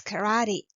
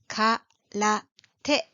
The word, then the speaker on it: karate: Yes, it is karate, which is actually English pronunciation. Its Japanese sound is karate, karate.